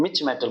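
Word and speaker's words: mischmetal: Pronounce देख लेना, जो भी है मिच मेटल बोल देते हैं इसको, मिच मेटल या मिस मेटल, मिच मेटल बोलो, मिच मेटल।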